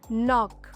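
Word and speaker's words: knock: silent when they are फॉललोड बाय एन एट the beginning of the word जमा शब्दचा शुरुआतीला जी किवा के येत असेल और तचा इमीडिएट नंत एन येत असेल तेवा जी आ के सा उच्चार करचा नहीं for example knee नॉक Nash rule number 10 pronounce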